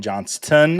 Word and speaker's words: Johnston: You just got Quentin Johnston. I feel like I need to pronounce that T here on FYF.